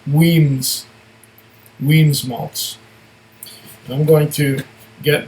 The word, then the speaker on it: Wemyss: It says here, if you can read that, to me it looks like Wemyss Malts, but it's really pronounced Wemyss Malts.